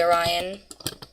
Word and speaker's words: Orion: Good boy, Orion. Not Ryan.